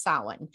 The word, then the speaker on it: Samhain: like it's damn highly announced yeah but it's pronounced salon and in cal celtic in i believe it